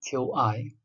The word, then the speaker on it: qi: And when we study the basic theory, the qi, Q-I, some students doesn't want to pronounce as qi, they pronounce as Q-I. And yin and yang, they don't want to pronounce, instead they say y-i-n or y-a-n-g.